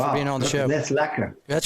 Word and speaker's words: lekker: out is it well lekker is i mean it's pronounced like phonetically like l-e-k-k-a yeah okay but it's